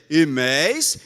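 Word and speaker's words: ἡμεῖς: entre nós e vós, mas em grego, nós é imeis e vós é imeis. Você percebeu alguma diferença? Pois é. A pronúncia é quase idêntica. E houve um período na Idade Média em que a pronúncia se tornou absolutamente idêntica.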